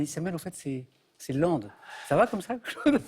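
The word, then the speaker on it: Lempdes: Et puis au début, j'écorchais, mais bien. Parce que ça s'écrit L-E-M-P-D-E-S. Alors, je sais pas ce que je disais. Qu'est-ce que je disais, Claude? Lampt. Lampt, voilà, phonétiquement, quoi.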